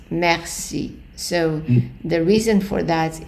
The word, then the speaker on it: merci: So the reason for that is that the E, or which is the E in French, followed by two consonants, with few exceptions, the E is pronounced as an A.